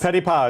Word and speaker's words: Petipa: Petipa, it's French.